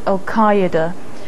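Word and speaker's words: al-Qaeda: pronunciation unit's recommendation is alqaeda uh and that's because it's it reflects most closely the the original Arabic pronunciation finally a name that's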